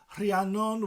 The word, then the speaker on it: Rhiannon: Rhiannon with the RH, that R sound.